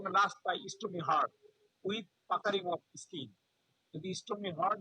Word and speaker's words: puckering: And stony hard with পোকারিং। পোকারিং বলে, কেউ বলে পাকারিং, এই জিনিসটা পোকারিংটা ভালো উচ্চারণ।